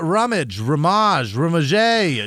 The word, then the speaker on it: Rumage: Yeah, Krista Rumage, Jamie Rosa, Amanda would know last name. Amanda C. Also, You got to roll your R. Rumage.